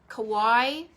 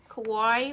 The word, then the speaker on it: Kauai: know who i'm talking about but uh so kawaii kauai right here every time i pronounce this in my head i feel like